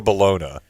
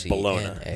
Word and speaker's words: bologna: Bologna or balona. B L I've never said No one's ever said bologona. No, but you spell it that way, right? B O L O G N A.